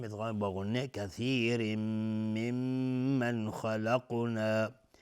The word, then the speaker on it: خلقنا: کثیر ممن خلقنا، و میم مشدد دو حرکت غنه میدیم. ممن خلقنا، نون ساکن بهش خا اظهار حلقی. خلقنا، خا از حروف استعلاء غلیظ تلفظ میشه.